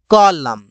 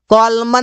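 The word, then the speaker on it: column: गया silent letter N जब किसी शब्द के अंत में एम एन रहे तो एन को नहीं बोला जाता इसे इसे बोलते हैं ऑटम कॉलम कॉलमन नहीं बोलते ऑटम नहीं बोलते इस वजह से यहां पर एम के बाद आने वाला एन साइलेंट रहता है साइलेंट लेटर पी जब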